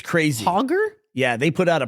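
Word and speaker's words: Hoggar: um they put out a car called The hoger do you remember this no it's crazy hoger yeah they put out a prototype uh what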